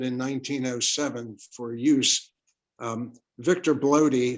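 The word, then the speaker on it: Bloede: Victor Bloody, whose name in German is pronounced Blurda, was quite an industrious individual.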